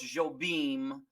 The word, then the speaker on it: Jobim: Antonio Carlos Jobim is the pronunciation for him.